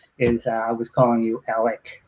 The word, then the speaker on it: Alec: it's okay yeah and you told me Ron it's like smart alec that's how you say no also you are